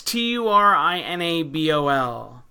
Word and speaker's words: Turinabol: Yeah, I guess it's how you pronounce it is Turnabol. Okay, yeah. Thanks, Chris. Yeah, it's Turinabol.